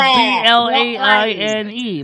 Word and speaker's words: Blaine White: No, it's spelled B-L-A-I-N-E. Blaine, not Blair.